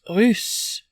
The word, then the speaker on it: russe: Russian, masculine or feminine, is R-U-S-S-E, pronounced russe. Red-haired has the OO sound coming from the stomach and throat, rousse, versus the pinched U sound in russe coming from the nose, russe.